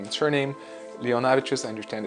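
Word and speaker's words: Leonavičius: that there's a second channel simply called Leonavicius, which is my name and surname. Leonavicius, I understand it's a tough name to pronounce, so that's why I'm saying.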